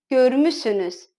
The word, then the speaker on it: görmüşsünüz: Или siz görmüşsünüz пишется, а произносится siz görmüsünüz.